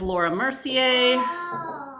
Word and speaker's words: Laura Mercier: Next one up is Laura Mercier. That's how you pronounce it.